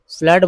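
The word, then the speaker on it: flood: फ्लड में double O का उच्चारण अ होता है, फ्लड बोलते हैं फ्लड।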